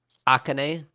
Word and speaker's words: Akane: Akane. It was like A-H, Ka, K-H, Ne for the pronunciation. The actual name is spelled A-K-A-N-E.